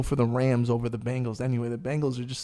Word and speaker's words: Bengals: It's the Bengals, like bang.